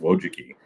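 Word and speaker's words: Wojcicki: Don't ask me to spell it, but it's pronounced Wojuki.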